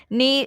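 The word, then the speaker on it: kneel: Then chair, नील, नील क्या होता है, नील, इसमें के देखिए के साइलेंट है, ठीक है।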